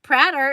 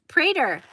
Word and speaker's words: Prater: the kitchen oh and Ashley's name rhymes with tater so it's not pratter it's Prater well there you go